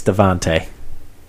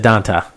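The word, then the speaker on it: Devonta: say his name right it's devonte it's devonte yeah you said danta no I said devonte no you didn't will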